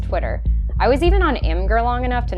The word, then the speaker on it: Imgur: I was even on Imgur long enough to know it's pronounced Imager.